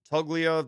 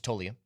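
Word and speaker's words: Toglia: Michael uh Tuglia the proper pronunciation is it's Toia.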